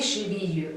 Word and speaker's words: chevilles: Mais le pluriel, c'est les chevilles. Et toujours, on ne prononce pas le S.